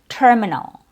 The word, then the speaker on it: terminal: Uh start with an accurate vowel sound and then a property tur terminal terminal instead of terminal terminal terminal.